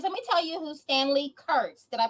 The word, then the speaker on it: Stanley Kurtz: Yes, guys, let me tell you who Stanley Kurtz. Did I pronounce that correctly?